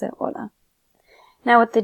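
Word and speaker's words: hola: always follow specific rules the H is always going to be silent so anytime you've seen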